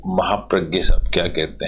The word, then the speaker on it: महाप्रज्ञ: चलिए, इसको लिखने वाले आचार्य महाप्रज्ञ हैं, इन्होंने, इनको महाप्रज्ञ बोलते हैं, लेकिन स्पेलिंग इसी JNA होती है।